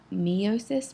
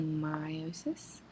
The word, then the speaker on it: meiosis: This segment of your notes is on meiosis, or gamete cell division. Pay close attention to that word, meiosis. The correct pronunciation, it looks like it might be meiosis, but it is actually meiosis.